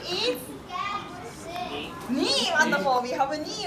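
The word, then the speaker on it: に: Beautiful pronunciation. 2 is. Knee, wonderful.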